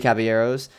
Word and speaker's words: Caballeros: this era included it's ludos Amigos the three cavalieros is that what it's called how it's pronounced yes I think some yeah the three Caballeros uh make mine music fun and fancy free